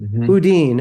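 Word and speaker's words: Boudin: Um Kathy, is it pronounced Budin or Bodin? Bodin.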